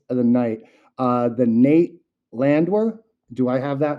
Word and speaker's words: Landwehr: The Nate Landwehr. Do I have that name correct? I Yep, butchered the Nate last Landwehr, one.